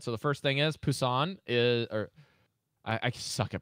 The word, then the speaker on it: Busan: sorry guys it's it's it's with a B but I've heard it's pronounced with like a BP sound in Korean Pusan I can't son was on Busan and they have sanctuary